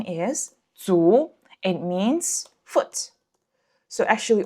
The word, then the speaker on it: 足: When standing alone, the pronunciation is 足.